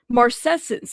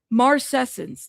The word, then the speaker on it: marcescence: Marcescence. There you go. Marcescence.